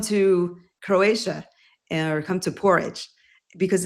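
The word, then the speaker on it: Poreč: So the little hotel that I stayed at in the seaside town called Porridge, excuse me, it's Porec, pronounced Porridge.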